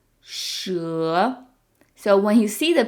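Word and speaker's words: 蛇: don't do it it's the E is pronounced like uh and the measure word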